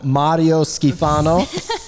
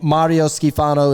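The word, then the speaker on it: Mario Schifano: His name is Mario Skifano. Yeah, I mean, look. You have to roll your R's.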